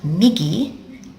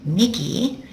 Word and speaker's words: 右: not right as in right and wrong it's pronounced Miggy Miggy let's have a look what it used to